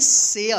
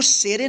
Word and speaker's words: share: SHARE, इसको क्या पढ़ेंगे, शेयर। क्या पढ़ेंगे, शेयर। इसको शेरे नहीं पढ़ेंगे, ठीक है ना।